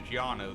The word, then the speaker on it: Llano: how you say it the Spanish pronunciation is gianno though yanolano Llano River